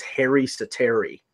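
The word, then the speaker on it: Harri Säteri: now for Florida behind James rhymer believe his hair east of Terry yeah that's how you pronounce his name and you know he's had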